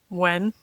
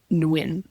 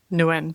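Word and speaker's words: Nguyen: Wen. No. Oh. Well, according to uh Julian Mikuel it's pronounced Nwin. Nuin.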